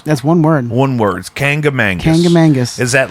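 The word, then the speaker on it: Kancamagus: But there's a Kangamangus Highway in Concord. How do you say that? Kangamangus. Kangamangus. Is that 2 different words? That's one word. One word. Kangamangus.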